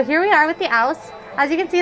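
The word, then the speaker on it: Aass: a-a-s-s a-a-s-s sure but it's pronounced house and so here we are with the house as you can see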